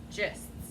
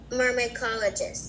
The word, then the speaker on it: myrmecologists: So when you have YR at the beginning of a word, like consonant YR, that YR sounds like Mycologist. Okay, you're adding a lot of syllables. Mer, me, call, o, Myrmecologists.